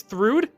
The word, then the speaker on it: Thrude: Oh, her name is Thrude? Holy shit. Been saying it wrong for so long. Is it really Thrude? It is Thrude. Huh. Well, we've been calling her Thrune this whole time, so that's her name.